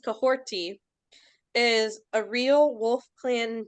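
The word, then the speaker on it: Kahhori: Cohorty, pronounced Cohorty, is a real Wolf Clan name, meaning she stirs the forest, or is someone who motivates those around her.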